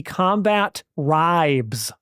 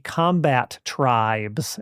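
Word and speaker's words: Combatribes: I did not make the connection in my 10 or 11 year old mind that it was the combat tribes and that's how it was meant to be pronounced.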